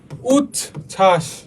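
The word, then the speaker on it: উচ্ছ্বাস: তবে দেখো যুক্ত বঞ্জনের সাথে বফলা থাকলে তা উচ্চারিত হয় না। যেমন উচছাস উদল খুবই ইজি। দেখ যুক্ত বঞ্জের সাথে বফলা থাকলে তা উচ্চারিত হবে না। হবে না। হুদাই আমি দিছি এটা। হ্যা উচ্ছাস ব কোথায়? ব কোথাও নাই। শুধু বানানের ক্ষেত্রে আছে। উচ্চারণের ক্ষেত্রে নাই। উজ্জ্বল।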